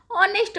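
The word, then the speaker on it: honest: हॉनेस्ट नहीं पढ़ते, ऑनेस्ट पढ़ते हैं।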